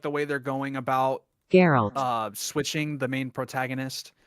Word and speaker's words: Geralt: love how they're building up the transition from geralt to um geralt geralt not not not geralt